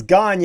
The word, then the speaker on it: Gagnon: Philip Gagnon, offensive line arm Gagne. available. I mean, depends on how you pronounce it. I've heard it Nobody Gagne says and I've heard it Gagnon. It's Gagnon.